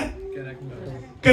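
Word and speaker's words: character: कररेक्टर। कररेक्टर। कररेक्टर। ये सी से है लफज़। लेकिन आवाज के की आएगी हमें।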